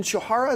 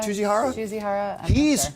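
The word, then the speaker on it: Tsujihara: But it looks like Kevin Shihara, is that how you pronounce this? Like the CEO over Warner Brothers? Tsuchihara.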